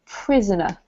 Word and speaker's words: prisoner: And this one here is not pry, but prisoner.